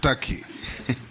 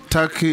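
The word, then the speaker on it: Türkiye: it's tury it's only written Tak but it's pronounced Taki thank you I that is the name of the country thank you I believe you meant the country of Istanbul and Ankara it's called turkey in English turkey in Arabic yeah yeah that's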